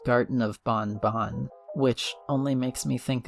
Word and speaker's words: Garten of Banban: pronounce the name correctly the devs have apparently stated that the game is pronounced Garden of Bonbon which only makes me